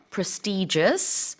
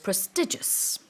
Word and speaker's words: prestigious: Yeah, I think generally in the UK, prestigious is the more common pronunciation. But I do hear prestigious Of a lot course. because I'm surrounded by American English speakers. So yeah, prestigious is the North American way of saying it.